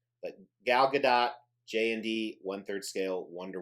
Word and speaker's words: Gadot: scale gal gadot piece she says to pronounce the t so i do what she says but gal gadot jnd one third scale